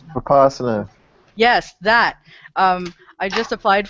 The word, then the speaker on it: Vipassana: I don't know how to pronounce it. I think it's Vipassana.